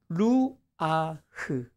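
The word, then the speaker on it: רוח: 좀 발음이 힘든데 루아흐. 따라서 해보세요. 루아흐. 시작. 루아흐.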